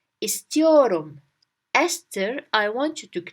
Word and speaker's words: istiyorum: The word istiyorum means I want. I want. So, Esther, I want you to clean your room. Esther, your room. Esther, your room. Your room, it's here. Your room. We just fix it a little bit, twist it. Your room, your room. And Esther, we twist it to ist.